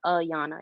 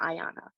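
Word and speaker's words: Ayana: is pronounced different like my name is pronounced the way it's spelled so it's a yana it's not ayanna but people just say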